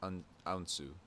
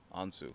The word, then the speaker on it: Hounsou: And then it's like Hounsou. Hounsou. So like the H is silent.